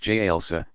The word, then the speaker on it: jalsa: Sitting on the heels, jalsa, pronounced jalsa, stretching forward toward prostration.